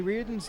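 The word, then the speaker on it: Riordan: Which, hearing that it's pronounced Reardon, might not be how you think it's spelled on first guess, I guess. 2-2 pitch. Just does miss inside. Count out full, 3-2 to Lyons. Reardon is R-I-O-R-D-A-N.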